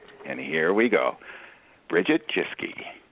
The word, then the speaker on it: Jeske: Bridget Jeskey. How do you say your last name? Is it Jesy? Yeah, Jessie. Okay.